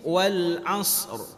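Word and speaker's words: وَالْعَصْرِ: Yang kedua, harus ada huruf ra-nya. Jangan dibaca wal as.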